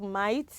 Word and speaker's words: might: g we have sign silent g h we have might silent h we have